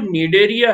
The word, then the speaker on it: Cnidaria: आप याद रखिए कि इसका नाम जो नीड ए यहां पर थी किस चीज साइलेंट यानि सीखा प्रनंसीएशन नहीं ऐसी को लिखा जाता है पढ़ को पकड़ा नहीं जाता तो यह जो नीड एरिया है यह नीड एरिया